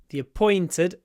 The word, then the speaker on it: appointed: before the appointed time the appointed remember when we say the pointed we connect the words and a y sound appears the appointed the appointed time and a word which